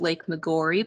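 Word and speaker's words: Lake Maggiore: is lake mcgorry now here at boyd hill we do pronounce it lake mcgorry but it is named after a lake in italy so perhaps the original pronunciation was more like maggiore or something like that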